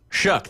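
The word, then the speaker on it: Shough: Is it show uh Shook? Shook. That's right. I knew it sounded like a CK at the end. It does not sound how it's spelled.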